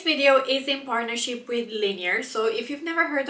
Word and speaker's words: Linjer: So the name is pronounced Linjer in Norwegian. However, it's pretty much the same way as you would pronounce linear in English.